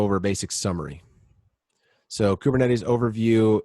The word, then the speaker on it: Kubernetes: it beneficial and production hardened and reliable it's pronounced kubernetes kubernetes or you can see it with a k